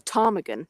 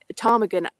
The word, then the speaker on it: ptarmigan: And ptarmigan, they are spelt just like pterodactyl. They've got a silent P at the beginning, which I think is just so mysterious.